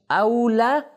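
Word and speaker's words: أَوْلَى: दो प्रोनाउंसिएशन है। औला उला। इसमें कंफ्यूज ना कीजिए।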